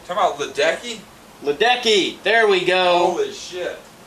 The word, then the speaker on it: Ledecky: olympic note major congratulations to katie catherine headley hadley i'm very sorry i got your name wrong come on ledecky ledecky there we go oh